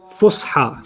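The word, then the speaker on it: فصحى: Fusha.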